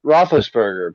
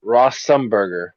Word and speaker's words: Roethlisberger: giannis is killing it people still can't pronounce roethlisberger people still call him ross sumburger yeah i don't want